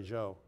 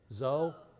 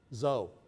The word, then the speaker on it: Zou: getting there and sherry Joe now how do you say your last name Joe Joe zou zou good right on so okay